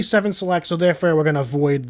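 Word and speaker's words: 7-Select: of our water was you kept saying 711 selected it's actually seven selects so therefore we're gonna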